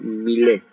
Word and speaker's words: Millais: Este es Millet, John Everett Millais, se escribe, pues, si quieren googlear, la obra se llama Ofelia.